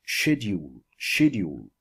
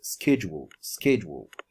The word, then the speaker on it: schedule: Actually, in the British accent, it's pronounced schedule. Okay, in the American accent, it's schedule.